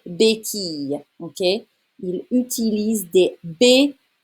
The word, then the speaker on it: béquilles: Il utilise des béquilles. It's a y sound. All right? Des béquilles.